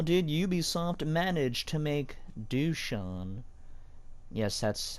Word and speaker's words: Dusan: So, how did Ubisoft manage to make Dusan? Yes, that's how you pronounce his name.